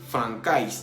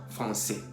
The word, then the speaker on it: français: Por ejemplo, français, para no decir francais, decimos français.